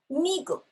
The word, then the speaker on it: 미국: Migu.